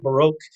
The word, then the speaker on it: baroque: what the baroque is i'm going to say baroque some people pronounce it the barack but uh i'm going to say the baroque